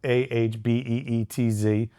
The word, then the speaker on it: apizza: But we've trademarked Ahbeetz. It was a tough trademark to get because it's used in Wikipedia. It's the pronunciation of Apizza.